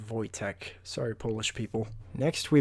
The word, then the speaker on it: Wojtek: It's actually supposed to be pronounced Wojtek.